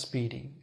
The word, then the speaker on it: SPDY: two now first of all this protocol called speedy spdy pronounced speedy speedy is an experimental protocol which is now being